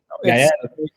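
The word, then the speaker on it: Gaël: Gael. It's from France. With the 2 dots on top, I think. Yes. Yes. So it's something French, like Gael.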